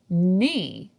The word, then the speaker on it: knee: And one of our previous words, knee, has a silent K.